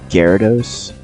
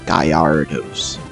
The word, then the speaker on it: Gyarados: helpful like for instance gyarados like i know that's how you pronounce it but i for the longest time i thought it was pronounced gallardos i'm like like what's